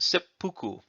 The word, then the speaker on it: seppuku: if you change the order of these it's pronounced seppuku and um so this is setsu and fuku